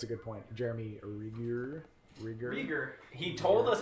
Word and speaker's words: Rieger: Rieger.